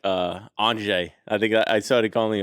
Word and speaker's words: Antje: Is the J silent? Like, what the hell? Well, it depends on if you ask an American or a German.